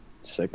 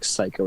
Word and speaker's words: Siko: But props to you for actually pronouncing it Sicko, because everyone always says Psycho or Siko or something.